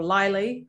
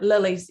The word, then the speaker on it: Lilii: So I've heard Lilii is an obvious one, or Lilii, or Lilii, like Dennis Lilii.